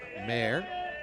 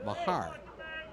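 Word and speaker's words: Maher: I've seen this name, M-A-H-E-R, as Mayer or Mahar. I guess it all depends on where you're from.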